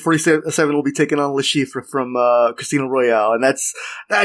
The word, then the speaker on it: Le Chiffre: mission where you can get how do you pronounce his name? Le Chiffre. Le Chiffre.